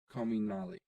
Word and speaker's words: Comunale: John Wayne Comunale. Yes, that's right. See. Pro tip number 1, learn how to pronounce the author's name. Yeah. John Wayne Comunale.